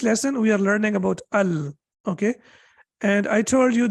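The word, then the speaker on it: ال: it has kas but what is restricted to al it is always pronounced with fatha as of now your takeaway is only this the rest please don't worry about that your takeaway should be that whenever we have al we have to pronounce it with fatha we cannot say and we cannot say ill we have to say al that's the only thing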